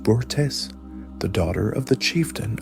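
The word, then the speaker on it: Börte: The third key factor in this period was his marriage to Berte, pronounced Burtes, the daughter of the chieftain of the Ungarat tribe.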